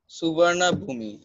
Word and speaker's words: Suvarnabhumi: The plane landed at Suvarnabhumi Airport at 4:55 p.m. The name Suvarnabhumi is pronounced as Suvarnabhum.